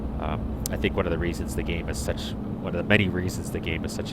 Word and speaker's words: MAN: Yeah, I guess it's man. I guess they just pronounce it man, not M-A-N.